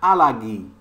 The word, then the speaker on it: Allergie: On prononce ER comme A. Ich habe eine Allergie. Les Allemands prononcent A au lieu de prononcer ER.